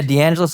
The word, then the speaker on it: DeAngelis: about today well Dr d'angeles hey I got to make sure I'm pronouncing that exactly right am I pronouncing that exactly right yeah d'angeles like Los Angeles but I'm not I'm